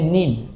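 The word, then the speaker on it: 人: তবে তখন এই হিতর উচ্চারণটা হবে নিন।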